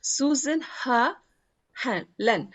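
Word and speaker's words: snoezelen: mean by this suland susin is pronounced Susan heren it's roughly translated from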